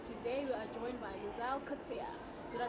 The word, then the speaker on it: Louzanne Coetzee: your host, and today we are joined by Louzanne Coetzee. Did I pronounce it properly?